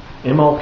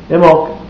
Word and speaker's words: Imbolg: you what the heck imok is uh it's U actually spelled i m b o l g but the B is silent so anyway I've got